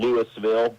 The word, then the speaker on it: Louisville: Lewisville, like Louisville, Kentucky, that's my hometown, but but Yep.